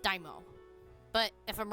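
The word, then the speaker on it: daimyo: I'm pretty sure it's pronounced Daimo.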